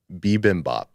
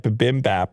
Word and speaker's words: bibimbap: though i can't remember bibimbap bibimbap and i said bimbap or something boom baby yeah uh